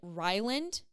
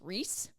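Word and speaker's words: Rhysand: I think his name, I was pronouncing it Ryland, like Riceland, but I was kind of like not pronouncing the S, so I was kind of like saying Ryland. Haley, the girl that loaned me her books from Kalamazoo, shout out to Haley Trudell, I think Trundell, maybe her last name, Haley T. She said that it was pronounced Reese.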